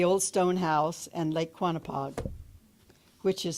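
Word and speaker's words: Quonnipaug: trees and the Old Stone House and Lake quonapod which is spelled q-u-o-n-e-p-a-u-g for some reason back then and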